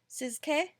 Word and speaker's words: Tsz: For her, so her name is Gloria Tong Sizke. Gloria Tong Sizke. I think that's how you pronounce it. TSZ. Siz. Because it's a silent T.